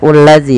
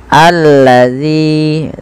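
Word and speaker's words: الذي: ini bagaimana cara membacanya ini bukan dibaca ulladzi ya teman-teman tapi kita bacanya ketika ada Hamzah atau Alif di awal bacaan dan tanda seperti ini kita baca dengan a ya alladzi panjangkan Z dua harakat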